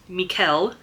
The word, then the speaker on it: Michael: And so it's Lucy and Sara and uh Sara's husband is spelled Michael but pronounced Mikuel and Arthur is Arthur.